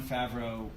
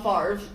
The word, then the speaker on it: Favreau: iron man's really really fun you also john favreau then did that how you say his name yeah yeah y'all have you ever seen it spelled out yeah i thought i have been calling him john farve who i think is a football player yeah